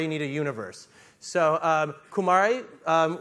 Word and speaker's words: Kumare: need a universe so Kumari is my middle name with a little a sound at the end my middle name is